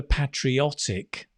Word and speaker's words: patriot: right 55 went for patriotic notice the pronunciation patriotic that's the adjective a patriotic person right but the person the noun is a patriot remember word families right